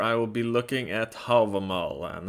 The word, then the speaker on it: Hávamál: looking at havamal and that's how you say it stop saying have a mal okay stop saying i say havamal usually because i'm norwegian that's how we say it there or if you really want to say it right an old norse you can say okay but stop calling it have a mel okay you're sounding like